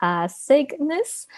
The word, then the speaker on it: Cygnus: The pronunciation is a little tricky, Cygnus.